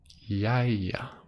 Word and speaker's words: jæja: me how to pronounce it butter basically how it's spelled is I'll throw it on the screen with editing magic yeah yeah your hi-yah yeah and basically this word can